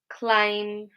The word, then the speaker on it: climb: We've got climb, numb, thumb. So we don't say climb, numb, thumb. Okay, we just pronounce it like an M at the end. B is silent.